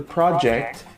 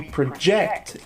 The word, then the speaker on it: project: and a verb okay the project the stress is on the first syllable and project the verb it's on the second syllable okay so after reviewing